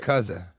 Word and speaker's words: Yakuza: And I don't want to be rude, but you're pronouncing it wrong. It's What is it? Yakuza.